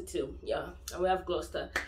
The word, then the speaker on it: Gloucester: Leicester, Worcester, Bicester, Chester, and we have Gloucester too. Yeah, and we have Gloucester. So those five examples, you have to change the cester to star. You don't pronounce it the way you spell it at all.